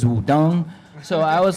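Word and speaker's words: Wudang: at first it was the proper way to say is Wudong, so I was like, is this something else?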